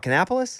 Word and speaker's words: Kannapolis: Kannapolis? Kannapolis, yeah.